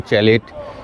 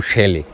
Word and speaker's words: chalet: বাইরের পরিবেশটা দেখতে পারব এই হোটেলটা কেউ উচ্চারণ করেন চ্যালেট কেউ স্যালেট কেউ চ্যালে কেউ শ্যালে তো আমি শ্যালে নামটার সঙ্গেই স্টিক করে থাকবো। তার কারণ এরা নিজেরাও এদের কোডেশলেটাকেই প্রেফার করেছেন। প্রথম কথা সেকেন্ড হচ্ছে যে অভিধানও কিন্তু বলছে শ্যালেটাই ঠিক উচ্চারণ।